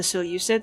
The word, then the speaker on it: Seleucid: Now, the Seleucids, I've been told that you could pronounce it Seleucid, have 17 cohorts.